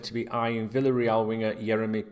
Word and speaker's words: Yeremi: His first name is Yeremy, Yeremy, and his surname is Pino, Pino. The Yeremy can be spelt with an I instead of a Y sometimes as well. I've noticed some different variations of it.